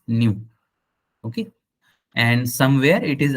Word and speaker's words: nu: new it is new it is pronounced as new okay and somewhere it